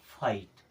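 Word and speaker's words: fight: क्या हो जाएगा नाइट एफ आई जीी एच टी आई के बाद में जी एच आया यानी कि जी एच हो जाएगा साइलेंट और आई को पढ़ेंगे आई की तरह ये हो जाएगा फाइट एल आई जी एच टी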